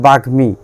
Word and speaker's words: বাগ্মী: যেমন আছে বাগ্মী, বাগ্মী শব্দে মফলাটা গয়ের সঙ্গে বসেছে এবং গয়ের সঙ্গে বসার ফলে গয়ের উচ্চারণ এখানে হবে এবং গয়ের উচ্চারণের সঙ্গে ময়ের উচ্চারণটাও হবে।